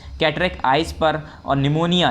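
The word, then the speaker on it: pneumonia: और निमोनिया, ये पिनोमिया नहीं है, पिनियोमिया नहीं है, ये पी साइलेंट होता है, निमोनिया पढ़ते हैं।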